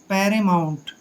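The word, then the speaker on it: paramount: और एम का उच्चारण मैं करेंगे, ओ यू को आऊ पढ़ना है और एन को आधा न और टी को टे पढ़ते हैं। पैरेमाउंट।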